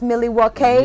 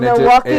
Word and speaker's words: Milwaukee: talking about how um it's pronounced millie wakey yeah not milwaukee because it's native american and it's it's it's